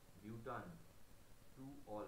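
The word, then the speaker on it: butan-2-ol: এই ভাবেলটা কেটে যাবে, তাই নাম হয় বিউটান টু অল, উচ্চারণটা হচ্ছে বিউটান।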